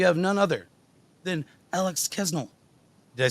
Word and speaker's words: Kasznel: I say Kasznel usually, but like there's an S and a Z. There's too many consonants.